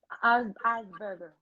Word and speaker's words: Asperger: So what's how you pronounce it again? The what he has? Asperger, Asperger.